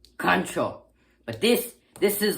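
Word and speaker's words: カンチョー: When you're just facing someone, just try to sneak up on someone, you use kancho. Ka-n-cho. Kancho.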